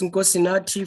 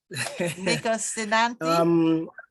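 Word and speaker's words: Nkosinathi: That's Nkosinati for you. Nkosinati? Yeah, that's better. That's better.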